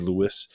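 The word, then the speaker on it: Luis: more minutes to RJ Lewis uh is it Lewis or Lise I've heard it pronounced both ways by announcers this year I've got it's Lewis R.J Lewis um and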